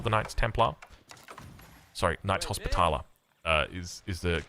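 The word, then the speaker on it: Hospitaller: The Knights Templar sorry Knights Hospitala uh is is the correct way to pronounce that.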